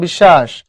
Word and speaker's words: বিশ্বাস: বিশ্বাস, মাঝখানে তালব্য শো না, বিশ্বাস। দেখো তুমি যখন পড়ো, এই যে এইটা বিশ্বাস, তালব্য শো ডাবল পড়ো।